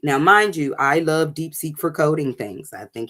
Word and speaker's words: DeepSeek: DeepSeek is just like it's spelled like DeepSeek.